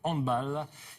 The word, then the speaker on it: handball: ce Mondial de handball on dit bien handball hein et non pas handball on prononce à l'allemande ce Mondial donc c'est